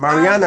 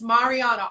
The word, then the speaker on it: Marianna: It's I'm Mariana, right? awesome. I'm awesome. Yes, it's Marianna. All the A's are I's.